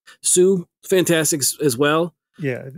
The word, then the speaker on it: Hsu: Sue. Fantastic as well. Yeah. HSU. Right. Sue, I think. Right. Yeah. I believe that's how it's pronounced.